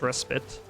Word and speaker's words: Respite: All right, so just as a refresher on what we're doing here at Dead Man's Res- Dead Man's Respite um or respite, you could pronounce it either way.